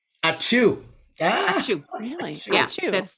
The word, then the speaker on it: Ačiū: This is how you say thank you in Lithuanian. Ačiū. Ačiū.